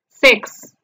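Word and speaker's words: six: símbolo de la i mayúscula pequeña entonces la pronunciación del número seis en inglés es sex ahora veamos el número siete en la transcripción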